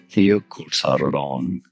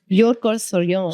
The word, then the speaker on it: Jökulsárlón: Some Icelandic pronunciation. Jökulsárlón. Jökulsárlón.